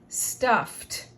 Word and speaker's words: stuffed: Stuff, listen for the T, stuffed.